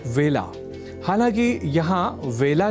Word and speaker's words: वेला: अतः ए अक्षर से जुड़े वेला इस शब्द के उच्चारण में भी विशेष ध्यान रखा जाना चाहिए। अर्थात इसे बेला नहीं बोला जाना चाहिए।